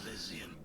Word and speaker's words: Elysian: The lights of Elysian shine upon me. Oh, that's how you pronounce the game.